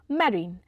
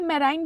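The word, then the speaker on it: marine: हमारा next word है मैरीन मैरीन या मराइन भी बोलते हैं बहुत लोग मैरीन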